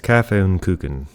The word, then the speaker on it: Kaffee und Kuchen: And it seems like the Germans have the earliest versions of coffee and cake with their Kaffee und Kuchen. It's Kaffee und Kuchen. They don't pronounce the CH.